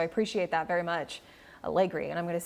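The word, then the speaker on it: Allegre: One of our viewers is saying it's pronounced Allegri? Allegri. Allegri. Thank you.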